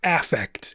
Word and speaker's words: affect: You might see this and see the word affect, but when psychologists see this word, they pronounce it affect.